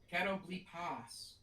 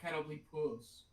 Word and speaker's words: Catoblepas: It's with an A, not a U. Catoblepas, not catoblepus.